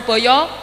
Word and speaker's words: dowo: Ngapak biasanya berakhiran dengan huruf "a". Di tempat saya di Surabaya, pengucapannya adalah "o", jadi "dawa" menjadi " dowo".